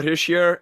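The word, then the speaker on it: Hischier: say it he sure yeah it's it's Nico hishear and uh yes but yeah he is from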